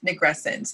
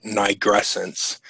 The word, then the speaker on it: nigrescence: literal definition of the word nigrescence. Oh, I'm saying it wrong. Nigrescence. Pardon me. No, it's okay. This is a learning podcast. Yes, so, it is. And you know what? For all I know, I'm not saying it right.